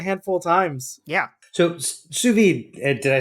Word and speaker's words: sous vide: Iron Chef and the competitions, they were using sous vides a lot in the last 5 years.